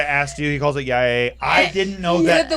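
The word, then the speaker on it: YIAY: He calls it Yay. I didn't know that. The that- Y-I-A. It's just called Yai. One syllable. Oh, it's called Yai? Yeah, this like- rhymes with guy.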